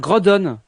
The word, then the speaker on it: Groudon: nancy c'est comme roudet groudon normalement on devrait dire gros donne mais c'est dégueu attend série comment régis